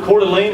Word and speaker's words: Coeur d'Alene: you guys know the singer Spokane Coeur de coeur d'alene is how you say that blew me out